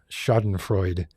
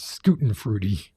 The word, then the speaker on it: Schadenfreude: of pronouncing words and put Schadenfreude as being pronounced as Schutenfreude.